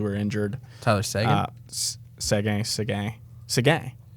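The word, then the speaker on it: Seguin: injured tyler's segment sega segay segay is it not segay i think that's a second english speaking people call him sagan but that's because you're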